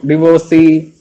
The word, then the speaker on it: divorce: divorce, some of you divorcee, like that all. The correct, so right, but its correct pronunciation is divorce. It's divorce. Okay, write the next word, divorce. Divorce. And we pronounce it as Divohrs.